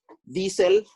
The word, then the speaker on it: Diesel: Diesel, así, D-I-E, es I.